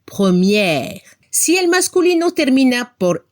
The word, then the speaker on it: première: Abremos la boca para pronunciar al femenino, première.